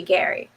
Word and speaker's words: Gerry: called it gerrymandering because they mispronounced his name it was supposed to be gary um and it's been